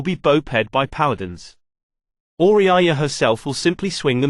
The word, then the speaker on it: Auriaya: oriyaya watch the pronunciation patrols a large room with her four